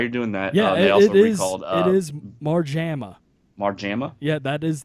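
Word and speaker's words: Marjama: well why are you doing that you know more JAMA mark JAMA yeah that is the pronunciation okay they called up Mike more JAMA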